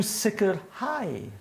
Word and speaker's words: sicrhau: Okay, so rwan, yr ochr yma, you do sicrhau. Sicrhau. So the accent is on the last syllable.